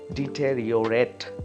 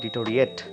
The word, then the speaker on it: deteriorate: spelling of it, and that is deteriorate. It is not deteriorate, it is deteriorate.